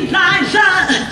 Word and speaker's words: Liza: But when you're Liza, you always have to say, no, it's Liza with a Z, not Lisa with an S.